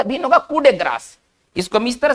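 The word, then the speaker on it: coup de grâce: देखिए French word क्या कर रहा है, इसको किस तरह से पढ़ेंगे? कूडे ग्रास ना, एक साथ पढ़ेंगे ना, ऐसे नहीं कि कूप डी ग्रेस, ऐसे नहीं, ठीक है ना, ये उच्चारण इसका थोड़ा सा भिन्न होगा।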